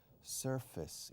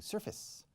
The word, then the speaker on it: surface: No se dice sur, como al norte y al sur. Se dice sir. Yes, sir. Surface.